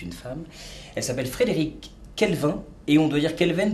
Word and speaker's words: Quelven: En fait on dit Kelvin parce que ça s'écrit Q-U-E-L-V-E-N. Ouais. Tu vois, mais parce que c'est breton, on dit Kelvin, mais en fait, bah faut dire Kelvin, parce que sinon les gens n'écrivent pas.